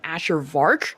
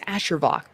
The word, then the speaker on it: Ashervok: You get so lucky because people either pronounce my name Ashervar for some reason or Asher and I'm like, yo, style it down. It's Ashervok or just Ash.